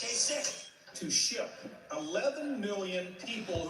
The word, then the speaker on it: Kasich: It's I-C-H. Every time I see it, I say Kasich. But it's pronounced Kasich.